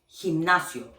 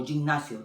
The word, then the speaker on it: gimnasio: Or for example, gimnasio. I always hear they say gimnasio or gimnasio. No, in Spanish es gimnasio. Okay, because that's the sound of G when it's next to E or I.